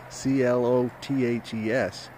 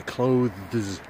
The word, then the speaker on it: clothes: Joe wears really stupid clothes sometimes c l o t h e s is pronounced the same way sometimes students think it should be clothes but it's not clothes